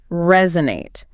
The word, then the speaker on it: resonate: Resonate. I want to break down the pronunciation and crucially how the metaphor works. Absolutely. First, pronunciation. It has to have that Z sound. Yeah. Resonate, not resonate.